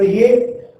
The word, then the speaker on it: ewe: तो ये अब EWE जैसा आप भेड़ जो होती है शिप, उसका मेल जो होता है उसे यू कहा जाता है, लेकिन इसका प्रोनाउंसिएशन भी किससे आ रहा है, ये से आ रहा है।